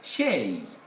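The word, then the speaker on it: chez: is borrowed from french is pronounced as shay at the place of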